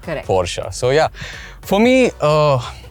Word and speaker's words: Porsche: have different versions but there was this one video I saw on YouTube that actually showed you how to pronounce the name pora so yeah for me